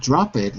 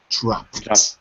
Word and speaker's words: dropped: drop it okay but the pronunciation is not drop it it's dropped drop it excellent so